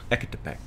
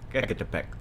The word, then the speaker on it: Ecatepec: They needed The couple was caught last week in Ecatepec, on the northern outskirts of the capital. I think I said it right. Ecatepec. Yeah, Ecatepec.